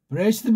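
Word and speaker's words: בְּרֵאשִׁית: 와 있잖아요 그러니까 이걸 갖다가 프 레스트 그렇게 발음 안 해요 그냥 브레시트 바라 이렇게 나간다고 그 브레시트 바라 이렇게 나가다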